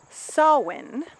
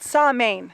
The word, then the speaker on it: Samhain: Celtic history and it is a holiday called sawwind with a very very different spelling it's s